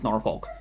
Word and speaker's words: Norfolk: right or wrong norol I get it it's norol it's like Virginia like North Carolina looks more